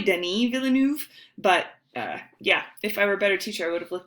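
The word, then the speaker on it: Denis Villeneuve: named I always say Denis Villa Villeneuve but he's French and so it's probably Denny Villeneuve but yeah if I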